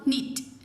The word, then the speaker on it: knit: Silent के, my mother knows how टू knit.